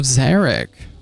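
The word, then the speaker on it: Xeric: It rhymes with Chambers of Derek. That's right. It's Chambers of Zarek.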